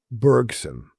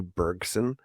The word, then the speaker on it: Bergson: Bergson and uh I'm gonna use the English pronunciation of his name. He was French, you know. So that would be like a Andre Bergson. Uh but uh I will be anglicizing that to Henry Bergson just to keep it simple for me.